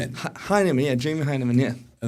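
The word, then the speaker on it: Hyneman: Heman. Heinman.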